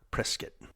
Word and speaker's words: Prescott: We're visiting Prescott, Arizona, or Prescuit, how they say it here in Arizona.